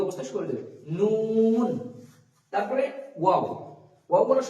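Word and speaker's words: و: তারপরে ওয়াও, ওয়াও বলার সময় ঠোঁটটা একদম গোল হবে এবং উচ্চারিত হবে ওয়াও ওয়াও।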